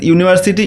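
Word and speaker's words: university: ঠিক আছে, এরকমভাবে এখানে there is ইউনিভার্সিটি ইন our district, তো আমাদের এখানে দেখো ইউনিভার্সিটি এর আগে কী হবে, এখানে ইউটা তো ভাওয়েল কিন্তু এর উচ্চারণ হচ্ছে ইউ এর মতো, তো তার জন্য আমাদের এখানে অ্যান হবে না, এটা হবে এ।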